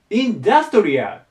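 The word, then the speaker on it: industrial: 書けなかったけどアクセントがねここに来るんです頭にインダストリアだでしょここなんだけどこっちはインダストリーで前に来るんですねアクセントが場所が変わるのでまそこ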